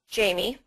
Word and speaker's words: Jaime: I will go ahead and give you my email address, which is my first name, and it's spelled J-A-I-M-E, Jamie. I know it looks like Jaime.